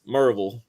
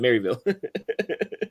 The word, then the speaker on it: Maryville: Absolutely, and if you're from that area, it's Merville instead of Maryville. I'm not from the area, so I call it Maryville. I call it like it's spelled. So shame on me. Locals will say it's Merville.